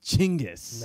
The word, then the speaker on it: Genghis: I get why the French made it Genghis. Genghis sounds so much cooler to my white ears. Genghis sounds silly to me. Chinggis.